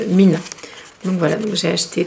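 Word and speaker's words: 3INA: Donc en fait, ça s'écrit, si vous cherchez sur internet, n'écrivez pas Mina, vous ne trouverez rien. Écrivez 3, donc le chiffre 3, Ina. Et ça se prononce Mina.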